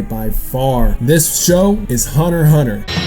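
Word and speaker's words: Hunter × Hunter: some people pronounce it hunter x hunter which makes me not want to cut you it makes me want to deck you in the face that's right cry stop pronouncing the x anyway this show first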